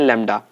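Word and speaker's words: lambda: इसका सिंबल होता है लैम्डा, इसको हम प्रोनाउंस करते हैं लैम्डा।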